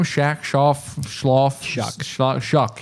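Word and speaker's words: Shough: Shoff. Schloff. Shock. Shock. Shock is how it's pronounced.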